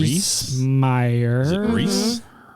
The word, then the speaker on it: Rhys: Yes, Joe the coach, played by Jonathan Rhys Rhys? Meyer. Is it Reese? It's spelled You- RHYS. Okay, then it's probably Reese.